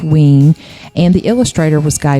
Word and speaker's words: Wein: It's spelled Wein, but it's pronounced Wein.